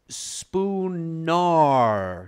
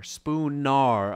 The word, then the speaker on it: Spoonar: It's Spoonar. Spoonar.